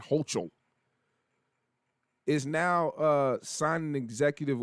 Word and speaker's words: Hochul: last name, Kathy Hochul, I'll say Hochul, that's how you say it, Hochul, is now signing an